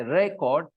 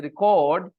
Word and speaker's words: record: I say record okay when I stress Ray the first part I say record then it is a noun and when I say record then it is a verb then I stress the second part like I said speaking